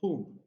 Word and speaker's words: whom: relative pronouns who and whom in these two words the letter h is not pronounced it's silent okay so it is